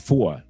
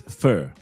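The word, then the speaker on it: feu: No, not foie. Foie? No, not broken. Focus. Foie. It's fur. You pronounce it in French. Fur. F-E-U.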